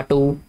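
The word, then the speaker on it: two: इसके अलावा नेक्स्ट है जी, और टू लिख देते हैं, ये देख ये वाला नर्सरी क्लास में आपने पढ़ा होगा टू, इसमें W जो है बेटे ये साइलेंट होगा.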